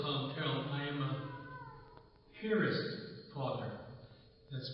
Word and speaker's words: Piarist: I am a Piarist father. That's spelled P-I-A-R-I-S-T. I pronounce it Piarist. Like where you put a boat in a pier, then put an IST on the end of it.